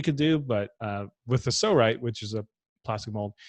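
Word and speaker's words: Psorite: It's called a Sorite. It's spelled P-S-O-R-I-T-E.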